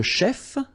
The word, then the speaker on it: chef: Un chef, so remember, CH, it will give you the sh sound.